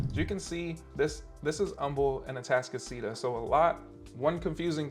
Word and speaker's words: Humble: a Humble address, and it is pronounced Humble. It's not Humble, and if you say Humble, someone is going to humbly correct you.